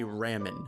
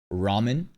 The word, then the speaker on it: ramen: In terms of pronunciation though, the letter A is pronounced ah in Japanese. That's why you don't say ramen.